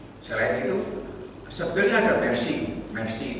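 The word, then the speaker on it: MER-C: Mercy itu nama C gitu ya, bacanya Mercy.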